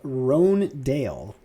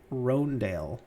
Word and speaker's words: Hröndaayl: this for your convenience his name is pronounced rhone dale roandale roandale okay let me ask